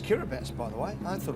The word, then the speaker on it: Kiribati: It's pronounced Kiribati, by the way.